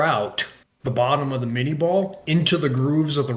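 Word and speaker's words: minié: 1850s and the 1860s, you've got the mini ball, right? Or or or more closely, I think, pronounced in French as the min ball, right?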